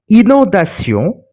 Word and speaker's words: inondation: But as for inondation, the vowel O came immediately after the nasal combination IN. So we are not pronouncing the nasal sound in, but we are pronouncing the sound of N.